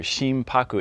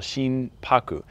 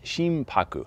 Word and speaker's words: shimpaku: n in the middle shin paku but when you roll the n into the p in japanese it actually does become kind of an m sound so it can be